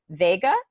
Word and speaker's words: Veiga: Vega, just it's pronounced like the I is silent. Like Vincent Vega from Pulp Yes. Fiction. Exactly. cool. John Travolta. Exactly. Just like that, that but with an I.